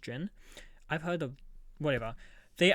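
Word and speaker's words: jinn: It's pronounced jin.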